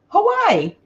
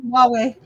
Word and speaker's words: Huawei: So this is Hawaii. No. Did I said it wrong. Huawei. Okay, because to me it looks like Hawaii. Hawaii? No. Yeah, but it's Huawei. The only reason I know is because of Stacy May.